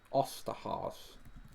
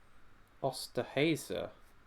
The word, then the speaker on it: Osterhase: Osterhaus. Liam will tell me how that's pronounced because he's a German obsessive. Well, it's not told me off, so it must have been. Osterhase. Okay. Osterhase. Question 14.